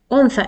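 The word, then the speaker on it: أنثى: So you will, how will you pronounce? Un. Un with a pause on noon, and tha is the third letter with 3 dots.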